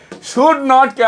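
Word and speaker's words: shouldn't: শুড নটকে আমরা লেখার সময় ব্যবহার করব, কিন্তু ইংরেজিতে কথা বলার সময় শুড নট বলবো না, বলবো কি শুডন্ট, শুডন্ট।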